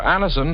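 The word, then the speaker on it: Anacin: Just ask for Anison at any drug counter. It's spelled N A C I N. And Annison.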